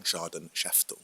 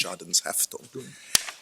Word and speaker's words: Schadenshaftung: I believe I mispronounced it yesterday by saying Schadenshaftung, but it's Schadenshaftung.